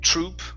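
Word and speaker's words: troupe: word um is spell is pronounced just like troop like T r o o p yeah it's troop like an acting group right so uh an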